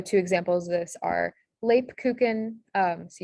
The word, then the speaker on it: Lebkuchen: So two examples of this are Lebkuchen. So you have the A sound in Lebkuchen spelled with an E, and then Flamen.